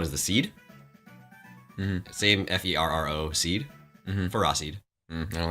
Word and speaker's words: Ferroseed: That is actually truly the official pronunciation. And the little one is the seed. Mm-hmm. Same Ferro seed.